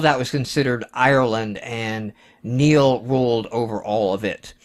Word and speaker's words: Niall: Niall, Neil, the original Neil. I like to say Null because it sounds badass, but it is pronounced Neil.